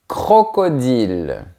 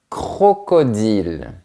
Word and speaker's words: crocodile: Un crocodile. Essaye de bien faire le son R. Un crocodile.